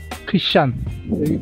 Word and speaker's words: 'Ksan: 여기 스펠이 참 특이해요. KSAN 키샴. 그 인포메이션 물어보니까 키샴으로 발음한다고 그러더라고요.